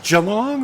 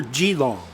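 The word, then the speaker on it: Geelong: Is it pronounced jalong or gilong? Jalong. I'll be damned. I had no idea. I've been saying gilong all these years.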